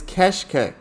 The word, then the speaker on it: Keşkek: Let's see if I can get it. Keşkek. It is keshkek.